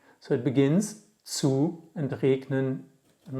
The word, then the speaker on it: regnen: And we don't say regnen because it's one syllable too much. We say regnen, we kill this E.